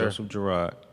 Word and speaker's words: Joseph Girard: My question for Joseph Girard is how you pronounce it? Yes, sir. Joseph Girard.